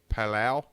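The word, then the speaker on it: Palau: her first stop was Pala p a l Au U I think I'm saying it right yeah that's right uh since then she's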